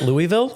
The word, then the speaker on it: Louisville: Some people call it Louisville. Some people call it Louisville. That's right. Louisville. Yeah. It's 2 syllables.